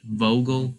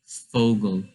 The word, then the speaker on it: Vogel: Like for Vogel, you say it like sort of as an F instead of a V. So you wouldn't say Vogel, you would say Vogel.